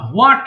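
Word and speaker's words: What: করো আমার সঙ্গে একটু বলো দেখি হোয়াট আমরা হোয়াট বলি হোয়াট হবে না হ্যাঁ উচ্চারণ হবে কি হোয়াট হোয়াট অর্থাৎ এইচ এর উচ্চারণ করবে না ওকে এটা সঠিক আচ্ছা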